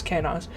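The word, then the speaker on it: Kenaz: How does that pronounce? Hold on. Kanaz. Sometimes written as Kanaz, but it's Kanaz.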